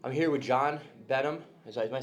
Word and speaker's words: Benham: I'm here with John Benham. Am I saying it right? John Yep, Benham? John Benham. John Exactly. Benham.